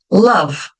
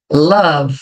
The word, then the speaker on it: love: É a mesma coisa que love. Ó, eu não vou pronunciar o E, né? Love, não é love.